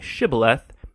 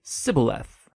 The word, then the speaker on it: shibboleth: It turned out that the Ephraimites had grown up pronouncing that word differently, so instead of saying shibboleth, they would say sibboleth.